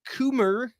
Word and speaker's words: Coomer: uh Jocelyn is saying Eric Coomer rhymes with groomer uh director of product